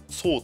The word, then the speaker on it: トール: 主人公のトールかな、ソーとかって読まれますけどね、日本だと。